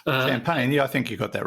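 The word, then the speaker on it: Champaign: Illinois obana champagne uh if I hope I'm pronouncing that correctly uh champagne I think you got that right yeah it's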